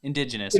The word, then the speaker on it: indigenous: A bush tucker, staple of I can never say this word. Ben, say it for me. Why can't I say it? Indigenous. Indigenous, right? Indigenous. I would put the wrong emphasis on the wrong syllable.